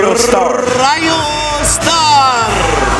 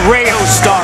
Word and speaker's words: Rayo Star: what's his name r Rio star yeah RAR is that how you say it Rio star okay it's Rayo star RAR Here Comes RAR